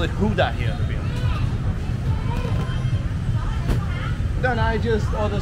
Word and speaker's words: Huda: So the beer here in Hue is called Huda. And I was told by a Grab driver earlier today that Huda is supposedly stands for Hue and Denmark.